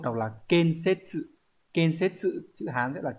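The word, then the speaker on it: 建設: Số 1 đọc là ken-setsu.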